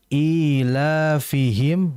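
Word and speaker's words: إيلافهم: kedua ilihim rihlat was perhatikan di ilihim itu panjang ya e la juga panjang ilafihim di situ berarti dihukumi Mad e thii ya yang harus diperhatikan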